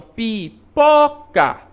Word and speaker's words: pipoca: Então, pipoca, né? Olha qual é a sílaba que eu falo com maior intensidade. O pó. Pipoca, né? Chamou, pipoca. Olha só, o pó, como ele estica um pouco mais.